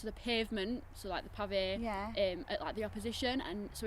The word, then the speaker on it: PAVÉ: And tell me about the name as well, because I was having a wee bit of trouble pronouncing it before. But tell people how it goes. PAVÉ.